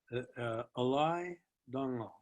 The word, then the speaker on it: Alay Dangal: Alay Dangal. It's spelled ALAYDANGAL.